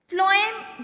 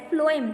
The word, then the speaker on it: phloem: Phloem, the name starts from, actually the spelling starts from P, but we pronounced it as a phloem, that means from F.